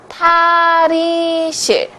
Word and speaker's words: 탈의실: But a fitting room in Korean is 탈의실. 탈의실. I know it's really hard to pronounce, but please follow me, okay?